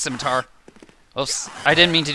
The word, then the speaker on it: scimitar: adds oh dang it as scimitar but it's pronounced scimitar oh I didn't mean to do that and